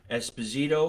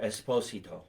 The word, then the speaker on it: Esposito: So is your last name pronounced Esposito or Esposito? In America, everybody says Esposito, but in Italy, they will hurt you if you do that.